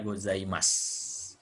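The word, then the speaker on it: ございます: gue Jangan goyah jadi gozaimasu lalusu Jadi kalau sub di akhir kalimat punya lemak Jadi dibacanya gozaimasu ditulisnya gozaimasu jadi Ohayo gozaimasu itu sapaan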